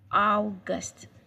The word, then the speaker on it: August: In English, it's same spelling but different pronunciation. So in German language, it's August, August, August.